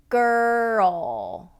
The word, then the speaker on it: girl: Okay, now when we go into ol, it's more of a cup shape. So there's a cup shape to our tongue when you do a dark L. So what you're doing is you're going to pull it back into the R and then drop the tongue into the dark L.